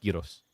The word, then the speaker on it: gyros: Most so giros I aka gyros is how like or gyros is how a lot of people say it, but it's pronounced gyros if you want to be Greek about it.